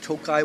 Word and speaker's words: Tokaji: Tokaj is the region in Hungary, and the wines of Tokaj will have an I at the end of them, which is silent.